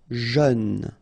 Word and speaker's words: jeune: Final E not pronounced. But then EU together. E. Jeune.